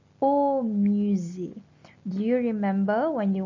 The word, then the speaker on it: musée: As we all know, if it is the museum, you should say le musée. Le musée. Z. Okay, not say. So you pronounce like Z.